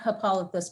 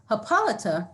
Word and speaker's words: Hippolyta: you who have noticed my pronunciation has been hippolyta rather than hippolyta the slippage is intentional